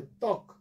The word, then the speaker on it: ত্বক: কয়ের মধ্যে অ আছে বাট উচ্চারণের সময় আমরা সেটা উচ্চারণ করি না, যার জন্য এটা হলো ত্বক।